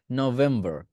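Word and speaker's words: November: এরপর আসি নভেম্বর, নভেম্বর। ঠিক আছে, এইটার যে ভি সাউন্ডটা আছে এটা শিখে নিবেন। ঠিক আছে, কনসোনেন্ট সাউন্ডের ভির মধ্যে।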